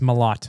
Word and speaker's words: Malott: You said mallet. It's Malott. Malott.